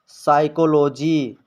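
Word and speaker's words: psychology: एन से पहले पी आया है तो पी साइलेंट होगा न्यूमोनिया इसी तरह साइकोलॉजी यहां पर आप देख सकते हैं सस से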